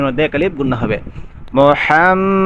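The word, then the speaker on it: مُحَمَّدًا: আলিফ গুন্না হবে মোহাম্মদার এখানে কিন্তু অনেকে মোহাম্মদ বলে ফেলে বলে এখানে কিন্তু মোহাম্মদ দূর হবে না হবে মোহাম্মদ ইন্না আন্না আন্নালাইতালা এসব শব্দের পরে যদি ইসিম আসে তাহলে সেখানের মধ্যে শেষে নসা অর্থাৎ জবর দিতে হয় ইসিমের শেষে অতএব আন্না মুহাম্মাদার মাদার বলতে হবে যদি দূর বলেন তাহলে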